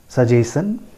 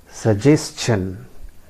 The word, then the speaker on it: suggestion: So normally कैसे pronounce करते हैं इस वर्ड को? सजेशन, very common pronunciation. Everybody pronounces it in that way, suggestion. But friends, that is not the correct pronunciation. I tell you, the correct pronunciation is suggestion. Suggestion. Friends, mark my words and listen to me carefully. It is suggestion. I repeat, suggestion.